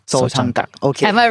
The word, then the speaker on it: Sojanggak: คุณซองเนี่ยก็คือเป็น graphic designer แล้วก็ทำหนังสือเรียกว่าสำนักพิมพ์ ที่ชื่อว่าโซจองกัก Sojanggak. Sojanggak. Okay. Am I right? My pronunciation.